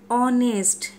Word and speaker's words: honest: Honest. O. Although this is consonant, but it starts with a vowel sound.